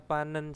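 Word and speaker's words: 받는: Terus di sini ada panen saram. Panen ya. Bacanya diketnya menjadi nien.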